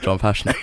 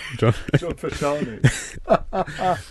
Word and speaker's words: John Fashanu: I think the pronunciation is Millwall legend John Fashanu. John Fashanu.